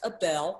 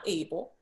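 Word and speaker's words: Abel: do you spell it his name is a bell a de el pronounced a bell not able the digby de de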